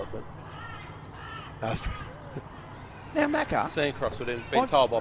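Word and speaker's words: Sancroix: throw it there yeah that's actually how you spell it but now macarthur sancross would have been told by paul dilley at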